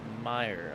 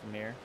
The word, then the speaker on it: Mir: the 14 of Jesse Mir. I have word that it is actually pronounced Meyer. I was corrected. uh the other week about it. I also thought it was mirror.